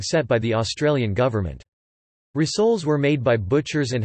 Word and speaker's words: risoles: Rissole is a snack food in Indonesia, where they are called rissoles, pronounced rissoles.